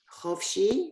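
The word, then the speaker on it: חופשי: you know, in case the line before the last, so the under the chet is again we pronounce it chofshi.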